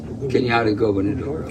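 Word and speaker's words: Cañada Gobernadora: Kenyatta Gubernadora.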